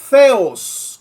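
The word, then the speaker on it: θεός: El sujeto Dios o theos, como se pronuncia en griego, va acompañado del artículo definido.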